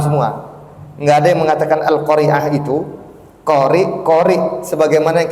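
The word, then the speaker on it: القارعة: mengatakan apa Iqra bismibbik q itu Hamzah di ujungnya itu bukan Ain Adapun surah alqariah itu Ain bukan Hamzah Dan kita pun harus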